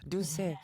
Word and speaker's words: Doucette: You never pronounce the last T, Doucette.